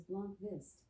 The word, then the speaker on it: Blomqvist: Luke Blomqvist. Blomqvist? Alexa, how do you pronounce Blomqvist? The pronunciation of B, L-O-N-Q-V-I-S-T, can vary depending on the context and the individual's accent. However, it is generally pronounced as Blomqvist, with the B and L sounds pronounced softly